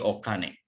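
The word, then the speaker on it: お金: Ini karena di sini ada o, ini dibacanya kane, menjadi okane.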